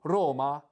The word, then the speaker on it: Roma: H Naples is Napoli Napoli and Rome is Roma and also and also the uh the uh the Vienna Vienna is is V V in German.